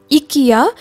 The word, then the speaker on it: IKEA: என்னடா ஐக்கியான்னு தானே எழுதியிருக்கு, ஏன் இவங்க இக்கியான்னு ப்ரொனவுன்ஸ் பண்ணுறாங்கன்னு உங்களுக்கு ஒரு டவுட் வரலாம். ஃப்ரெஞ்சில் லெட்டர் ஐயை வந்து ஈன்னு ப்ரொனவுன்ஸ் பண்ணுவாங்க, அதனால என் மனசில் இக்கியாங்கிற பேர் தான் பதிஞ்சு போச்சு.